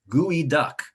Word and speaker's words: geoduck: that word is guidak gui duck that comes from a lucho seed language and then american tribe and um although it's not spelled like it sounds that's how you say it so this is another